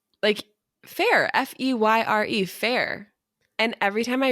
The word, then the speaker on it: Feyre: in the book, and it literally tells you the pronunciation in the book. Feyre at a part. No, it says in the book, like, it was like, my sister said my name slowly, over pronunciating each syllable, Feyre.